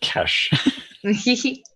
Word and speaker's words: Ches: for I'm not sure that's hard or soft turns out it's pronounced cash so for a recap